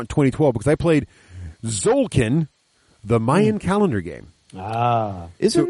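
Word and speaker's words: Tzolk'in: So I think it's pronounced Zolkin.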